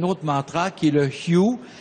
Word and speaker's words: Hu: Et puis, mais je vais parler d'un autre mantra qui est le Hyu. Ça s'écrit H-U, ça se prononce Y-I-O-U. Ça se prononce comme ça.